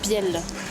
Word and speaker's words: béal: D'abord ces petites ruelles que vous appelez des bielles. Tout à fait, nous avons les petites ruelles qui sont des bielles, qui s'écrit Béal, qui vient du franco-provençal